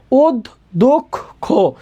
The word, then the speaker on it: অধ্যক্ষ: এখন দেখো আমরা অধ্যক্ষ বলে থাইমা যায় না, অধ্যক্ষ বলি, তাহলে শব্দের শেষে একটা অয়ের উচ্চারণ আছে, এটার জন্য আমরা এখানে ওকার দিলাম। তাহলে উচ্চারণটা হবে ওদ দুঃখ খো, ওদ দুঃখ খো, ওদ দুঃখ খো।